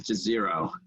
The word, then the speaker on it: Jezero: There's a couple of different versions, but we are pronouncing it as Jezero crater that we were in.